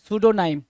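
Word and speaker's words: pseudonym: सूडोनाइम। सूडो, सूडो मतलब क्या? False, PSEDU, वहां पे पी क्या होता है? साइलेंट होता है, सूडो बोलते हैं।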